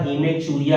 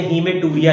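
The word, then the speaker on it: hematuria: अब इसका अलग अलग प्रोनाउंसिएशन चलता है, आप अपने हिसाब से देख लेना, बाकी सामान्यतः हीमेचूरिया कहते हैं। कुछ कुछ अच्छी अच्छी किताबें जिसमें हीमेटूरिया लिखा है, लेकिन बोला शायद शायद इसको जाता है हीमेचूरिया।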